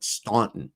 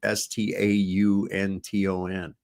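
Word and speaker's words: Staunton: not familiar with it because they call it Stauntton because it's spelled S T A N T O N, but it's just pronounced Stanton.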